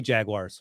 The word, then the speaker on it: Jaguars: How do you say Jaguars, Rick? Huh? How do you say the Jacksonville team? It's not Wires, it's Jaguars. That's what do you say, Josh?